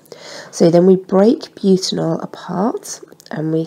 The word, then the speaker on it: butanol: Now this is pronounced butanol, not as one of my year 11s once insisted on pronouncing it as butt anal.